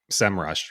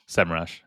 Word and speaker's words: Semrush: How do you say it? Semrush. Yeah. Is it Semrush? Okay. I said I said SEM Rush for like the longest time. Like 2015 to 2018.